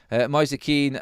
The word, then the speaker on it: Moise Kean: No, Graham, I really don't care about pronunciation, mate, so stop with that one, buddy. Moise Keane, that is how his name is said, so I don't care.